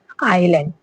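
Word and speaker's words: island: हां आई के बाद आया हुआ एस भी क्या है? हमेशा साइलेंट रहता है। जैसे आइलैंड आइलैंड में क्या है? अगर एस आया तो इसे क्या है? हम साइलेंट कर देंगे।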